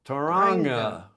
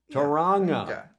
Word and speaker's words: Tanga: pronounced like the the NG in ringing ringing there's a native